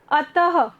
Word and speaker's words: अतः: इसमें देखिए, जैसे फर्स्ट वर्ड है हमारा अतः, तो इसका प्रोनाउंसिएशन जब करते हैं, उच्चारण करते हैं, तो ह शब्द आ रहा है, अतः। ह का मतलब विसर्ग से आता है।